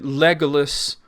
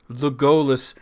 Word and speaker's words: Legolas: But I mean, the difference in pronunciation, Legolas, Legolas, there's an argument that they're both correct.